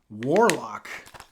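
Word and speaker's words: Warloq: got a me bro warlock this is called a warlock but it's spelled w-a-r-l-o-q not l-o-c-k warlock all right we got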